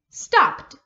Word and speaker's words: stopped: to the end instead of saying ed you don't really say the e sound you just say the d sound so instead of stop ed it becomes stopped stopped you just say the d sound at the end instead of the e d okay does that make